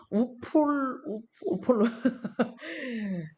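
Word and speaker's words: Upolu: Consisting two main island, 두 개의 섬으로 구성이 되어 있는데 그 섬 이름이 바로 우폴루 생소해, 그쵸? 우폴루 섬과 어떻게 읽을까요?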